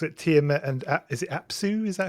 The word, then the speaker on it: Apsu: You mentioned Tiamat, and obviously the book looks at Tiamat and is it Apsu? Is that how you pronounce it?